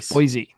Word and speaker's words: Boise: Everyone who looks at Boise, they're like, "It's no, you know, it's it's Boise, you know, it's Boisey."